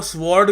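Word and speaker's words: sword: की इज्जत नहीं करनी डब्लू साइलेंट है यहां पे आप कहोगे स्वर्ड एस ओ आर डी एस ऐसे प्रोनाउंस करोगे इसको ठीक है खैर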